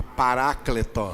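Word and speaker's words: παράκλητον: escrito em grego e em baixo está escrito a maneira de pronunciar o grego diga pará cleton sons em português se diz diga paráclito essa palavra tem um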